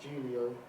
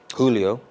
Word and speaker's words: Julio: Julio. A lot of people say Julio. It's cool. Honestly, I don't mind the way it's pronounced, but it is the Hispanic way of Julius, which is my name.